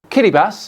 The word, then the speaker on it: Kiribati: island China just gave them 10 billion dollars Kitty bass as you pronounce it is made up of over 30